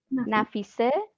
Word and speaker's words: Nafise: Nafise. AFISE. NAFIS. N as in Nancy. Sorry. I can spell it for you.